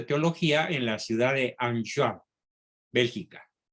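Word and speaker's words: Enghien: en la ciudad de anchoa bélgica esa ciudad se escribe en jim con noche intermedia como es francés se pronuncia and young bélgica donde recibe el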